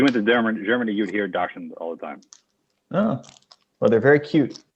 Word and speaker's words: dachshund: Dachshund is correct, but the American way of saying it is just dachshund. But if you went to Germany, you'd hear dachshund all the time.